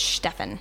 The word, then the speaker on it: Steven: No, it looked just like Steven, but how they pronounce it is Stefan.